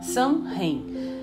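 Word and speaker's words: Samhain: em 6 assim que escreves s que se pronuncia sã em é s/a mhn escrever pra vocês o qual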